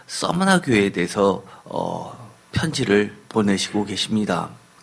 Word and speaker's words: 서머나: 오늘의 말씀 요한계시록 2장 8절에서부터 11절까지는 유명한 그 서머나 교회에 대해서 편지를 보내시고 계십니다. 서머나 교회, 서머나라는 말은 아마 익숙하지는 않을 겁니다. 서머나가 영어식 발음이지만 예를 들어서 스미르나라고 읽는 데들도 꽤 있습니다.